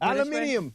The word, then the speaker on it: aluminium: Maybe we need alum alum aluminum. I almost called it aluminium like the aluminium. Yeah, depending on who you're asking, that's the correct way to say it.